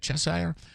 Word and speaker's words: Cheshire: A police chief in, I think it's Cheshire, is how you say it, Cheshire, appeared for an arraignment